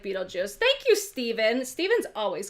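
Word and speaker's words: Betelgeuse: Okay, so it's pronounced like Beetlejuice.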